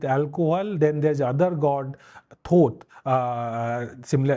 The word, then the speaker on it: Thoth: Osiris is, while he is associated with alcohol, then there's other god, Thoth. Similar, it is pronounced similar to thought.